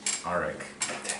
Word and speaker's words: Arik: Arik? Arik? Yes. Arik. How do you spell that?